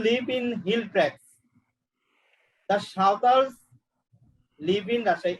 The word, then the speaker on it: সাঁওতাল: Who live in hill tracts, the সাঁওতালস live in Rajshahi. এখানে দেখো বানানটা সান্তাল, SANTAL, কিন্তু আমরা যখন বাংলায় উচ্চারণ করব তখন করবে সাঁওতাল, ঠিক আছে? এটাকে ইংলিশে লেখার সময় সান্তাল এভাবে।